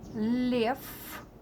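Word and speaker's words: лев: Lev, again v is like f, lev, lion.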